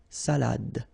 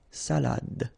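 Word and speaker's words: salade: soad same thing here final you don't insist on it it only gives you the pronunciation of the previous letter so D salad salad okay salad okay so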